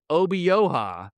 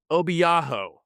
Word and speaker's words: Obioha: And this isn't King McClure's first WVU call, but my man was dead set on calling Harlan Obioha Harlan Obiaho.